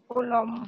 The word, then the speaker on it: কুলম্ব: কুলম। আমরা সংক্ষেপে কুলম বলি, এটা উচ্চারণটা হবে কুলম, বটা ব করে উচ্চারণ করবে, কুলম।